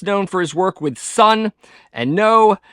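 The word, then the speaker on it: Sunn O))): Greg Anderson best known for his work with sun and no not Sun o as some mispronounce it and although there is a little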